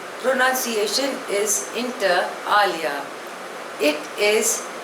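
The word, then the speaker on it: inter alia: classical music the next word is इंटर एलिया spelling is आई एन टी ई आर ए एल आई ए pronunciation is इंटर आलिया इट इज़ अ Latin word it means among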